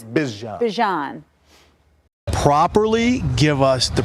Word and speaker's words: Bijan: Bijan. Bijan.